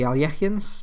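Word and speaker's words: Alekhine: my main defense is the Alekines or the Alyechians, depending on if you want to pronounce it correctly.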